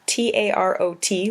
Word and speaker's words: tarot: day Tarot although spelled t-a-r-o-t like tarot it's pronounced tarot the last T is silent it's an ancient style